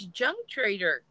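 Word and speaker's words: Junque Trader: Yeah, it's JUNQUE. I thought it was unique with a silent J. No, it's Junk Trader.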